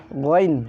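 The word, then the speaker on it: غ: Ghain, ghain. Tenggorokan atas, ghain. Gha, ghi, gu, bagh, gha, ghi, gu, bagh, gha, ghi, gu, bagh. Ghan ghani ghana minal mughni maghiran ghani gha. Itu cara pengucapan ghain.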